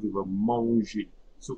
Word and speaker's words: mange: Okay, so je mange, I'm not pronouncing the E.